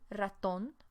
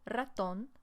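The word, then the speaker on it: ratón: serpiente a mouse is el raton with an accent on the o el raton and lastly a rat would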